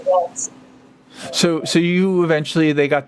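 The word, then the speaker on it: Walz: Waltz. No T, just Walls. Walls.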